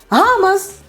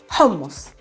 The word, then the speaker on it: hummus: you know everything now and you're able to pronounce the word hamas the correct way homos all right i hope you like this lesson